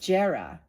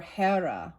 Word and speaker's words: Jera: weird Jera or Hera, right? Depends on how you pronounce the J.